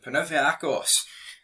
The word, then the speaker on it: Panathinaikos: And Panathinaikos, that's how you pronounce them, ready to sell Antonio Colak to Rangers, but they did reject an opening bid.